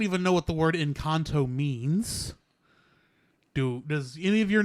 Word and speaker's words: Encanto: Yes, back to Encanto. Back in Encanto. Or Encanto. Yeah, however you pronounce it. Or Enchanto. I don't know. All right, so actually, there's no H, so I can't say Enchanto.